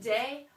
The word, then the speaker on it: des: And the plural way, actually rhymes with le, is des.